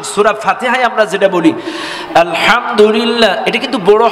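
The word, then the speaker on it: الحمد لله: হা এখন আসেন সূরা ফাতেহায় আমরা যেটা বলি আলহামদুলিল্লাহ এটা কিন্তু বড় হা যেটা চেপে বলতে হয়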